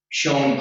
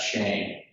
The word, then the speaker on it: Schoen: lot of comparisons to Schoen Place. And I use Schoen because I use the original German pronunciation of a family that was named after, not Shane.